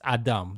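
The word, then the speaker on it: אדם: an a which is the da and the M sound with no vow so it's Adam that's where we get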